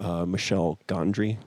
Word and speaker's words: Michel Gondry: Being John Malkovich or Michel Gondry. Is that how you say it? I was about to say, who's the French guy that does that stuff? Yeah, Michel Gondry.